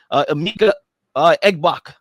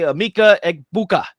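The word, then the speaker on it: Emeka Egbuka: You got Amika Egbok. Okay, Amika Egbuka.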